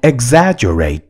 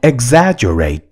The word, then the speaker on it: exaggerate: नि हैन त्यस्तो नगर भन्नु पर्यो भने don't exaggerate the matter कुरालाई बढाई चढाई नगर don't exaggerate the matter E X A G G E